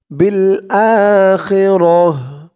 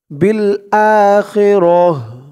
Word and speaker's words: بالآخرة: এই তো চিহ্ন হতে থামার কারণে এই শেষের অক্ষর গুলতা, এটা হা হয়ে গেছে। বিল আখিরাহ, গুলতাটা হা হয়ে গেছে অক্ফ করার কারণে, এবং গুলতার নিচে এই জেরটা সাকিন হয়ে গেছে। র দিয়ে হাকে ধরলে যেমন উচ্চারণ হয় এখানে তেমন উচ্চারণ হবে।